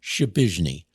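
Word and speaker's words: Przypyszny: John Shapizny. Shapizny. How do you spell that? P-R-Z-Y-P-Y-S-Z-N-Y. I've remembered how to spell his name all these years. P-R-Z-Y-P-Y-S-Z-N-Y. It's pronounced Shapizny.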